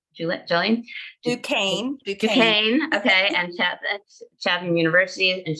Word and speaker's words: Duquesne: She's taught literary theory and analysis at, okay, I'm not going to pronounce this properly correctly, Jolene? Duquesne.